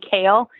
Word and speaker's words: Kahle: so it's k-r-i-s-t-i-m and then k-o like the vegetable even though the h in kale is silent so it's k-a-h-l-e and